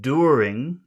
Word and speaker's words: during: Okay, so in that word during, where's the sound? Is a first do. The first dur. All right, so we'll make that a big sound.